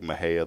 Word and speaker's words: Mexia: it wrong it's like it's like Maha they'll say Mexia right or marqu they say